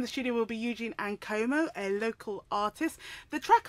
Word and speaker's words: Ankomah: Am I pronouncing that right? Yeah, Ankomah.